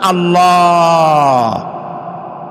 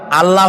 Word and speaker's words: আল্লাহ: কি গুণ বলেন কি গুণাবলীতে বিশ্বাস আল্লাহর নাম আল্লাহ বলেন তো আল্লাহ নয় কিন্তু আল্লাহ হচ্ছে অশুদ্ধ শুদ্ধ হচ্ছে আল্লাহ বলার সময় মুখটা